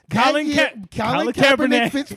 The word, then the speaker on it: Colin Kaepernick: Colin Kaepernick.